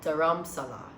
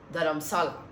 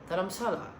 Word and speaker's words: Dharamshala: western part of India so that is called daram Sala or I think I'm pronouncing it wrong but whenever I say it like that they're the natives the locals are always telling me it's that I'm Salah that I'm Salah so that's how you pronounce